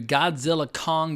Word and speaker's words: Godzilla x Kong: to the flick but if you're saying the full title the ex is silent I read an interview